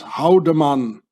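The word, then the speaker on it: hauen: name very very well in Swiss German you pronounce this howan Howen it means to hit or to strike howan you know Nazi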